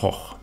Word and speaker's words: Gogh: Video mehr angucken I got you fun fact am Anfang Vincent van Gogh spricht man übrigens eigentlich anders aus weder go sondern es ist von hoch das war jetzt für